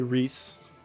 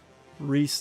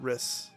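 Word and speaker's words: Rhys: Okay, Reys. Reys, not Riss.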